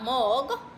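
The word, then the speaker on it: mög: stem as M O with a nout you pronounce it as mo. Yeah. O with a nout and g there mog.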